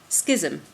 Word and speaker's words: schism: a sense we're creating a Schism which rhymes with vision sounds quite funny it